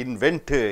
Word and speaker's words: invent: You don't say inventor, invent. N and T comes, you have to pronounce only on N, not T.